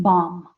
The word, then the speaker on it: bomb: And then we have on page 198, words ending in MB, so you have bomb. We don't pronounce the B. We don't say bomb. Just bomb.